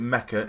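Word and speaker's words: Nmecha: believe you pronounce it mecha and you don't pronounce the N I did actually look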